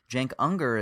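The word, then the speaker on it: Cenk: And then Jenker, is that how you say his name?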